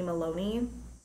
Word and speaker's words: Malone: I would change my name to Falcone Malone, but it would be pronounced Falcone Maloney.